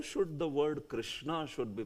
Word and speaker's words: Krishna: How should the word Krishna should be pronounced exactly? Is it Krishna, or is it Krushna, or is it Krishna? Like that. Like that's the most perfect, Krishna, like that.